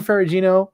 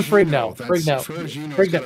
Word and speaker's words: Ferrigno: Lou Ferrigino, I just said his name wrong. You did, but I love it. Yeah. I'm gonna say it like that from now on. It's over. Lou Ferrigno.